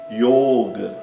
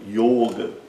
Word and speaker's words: yoga: Outro exemplo, yoga. Yoga, né? Então, yoga é com o fechado, não é yoga, né? É yoga e o o é longo.